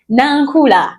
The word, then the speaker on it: Nankula: I'm pronouncing it like her. It is Nankula, Muluganda.